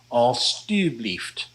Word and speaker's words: alstublieft: then you want to change that J-E to T-U and pronounce it alstublieft.